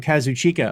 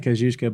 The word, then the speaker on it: Kazuchika: by the way uh supposedly okata pronounces his name kazuchika okata is how the man himself pronounces it but uh I'm always accustom to saying kazusa but apparently it's kazuchika I don't know so